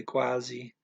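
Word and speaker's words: quase: almost um that spelled the e on the end but trailing either gonna say e quasi uh everybody talking fast is going to pretty much say quasi could you hear someone say quasi or pronouncing it one word at a time maybe okay 32 annals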